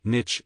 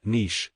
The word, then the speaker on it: niche: the word Niche is pronounced Niche not niche I'm fine with pretty